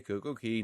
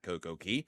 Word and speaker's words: CocoCay: pronounce it perfect day Coco Key, not Coco K. Isn't it supposed to rhyme? And the answer is no. It is not supposed to rhyme.